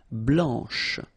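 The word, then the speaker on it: blanche: final C and then blanch okay remember when you combine this C you get the sound sh blanch okay so BL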